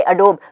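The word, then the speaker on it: Adobe: Same way अडोब, लोग अडोब बोलते हैं लेकिन वो अडोब नहीं है, वो अडोबी है. वो कंपनी का नाम अडोबी है, एंड इट्स वन ऑफ the best product companies.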